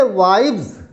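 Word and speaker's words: wives: तो इसे पढ़ेंगे वाइव्स, फिर एस की आवाज़ जो एस का प्रोनाउंसिएशन है वो जेड निकालें आप, वाइव्स।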